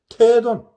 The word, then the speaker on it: 태돈: 이게 이제 긴 발음이야, 긴. 발음 좀 길게 하네. 태충, 태돈. 줄이 없으면 좀 대돈. 4대가, 목화수검토, 5대가, 4대가, 대보살. 이럴 때는 좀 짧게, 대보살. 이렇게 하고, 태돈, 이거는 좀 길게, 긴 뜻이 있고, 길게 읽는 태자야, 태자.